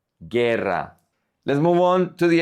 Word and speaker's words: guerra: And then we have the combinations GUI and GUE, where the U is silent, and we say ge, GUE, gi, GUI. For example, guitarra, guitarra, guitar. And with GUE, we have guerra, guerra, war, guerra.